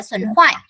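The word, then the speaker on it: 损坏: Từ này sẽ đọc là xuẩn hoại. Xuẩn hoại là tổn hại, tổn thất. Được chưa? Hoài á, của hoài chứ không phải là hai à? Không phải hại, xuẩn hoại.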